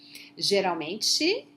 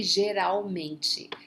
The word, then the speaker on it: Geralmente: Geralmente, remember that the L is not pronounced as L, it's U, okay? Geralmente, generally, normalmente, frequentemente, raramente.